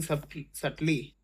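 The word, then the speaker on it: subtly: different people are ड्र सली ये बी साइलेंट होता है सर्टली डिफरेंट कंक्लूजन फ्रॉम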